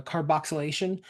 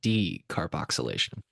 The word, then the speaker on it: Decarboxylation: carboxylation. Basically, you're using heat to transform the THCA into delta 9. Yeah, I think you THC. only missed one syllable there. Decarboxylation.